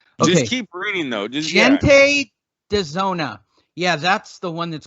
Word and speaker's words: Gente de Zona: Well, for starters, that is pronounced gente de zona. Gente, like a J. I mean, like a J. Well, in Spanish is J, but it's like a H for us.